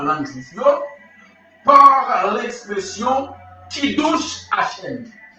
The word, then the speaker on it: Kiddush Hashem: Kiddush Hashem, il écrit K-I D-D-O-U-S-H, Kiddush. Kiddush, K-I-D-O-U-S-H, H-M. H-M qui s'écrit H-A-S-H-E-N. H-A-S-H-E-N, Kiddush H-M.